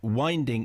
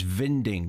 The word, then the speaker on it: Winding: Uh winding is vinding. Vinding. W and V are pronounced exactly the same in Danish.